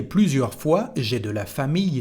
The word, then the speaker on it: famille: Here, the sound is I, and it's a rule, famille.